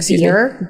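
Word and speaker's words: Bier: Beer.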